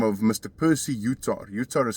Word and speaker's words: Yutar: Percy Yutar. Yutar is spelled y u t a r.